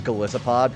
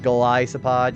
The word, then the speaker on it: Galisopod: like because um also it does bother me whenever somebody pronounces his name as Galissopod because that's not how Isopod's said. So when somebody says Galissopod, it kind of bothers me a little bit. I'm like no. Like Goliath, Galisopod, you know, I've seen